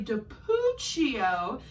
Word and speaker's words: DiPucchio: So one thing that she said when I was researching her online was that her last name rhymes with Smoochio. Can you blow smooch? So Kelly DiPucchio said her name rhymes with Smoochio.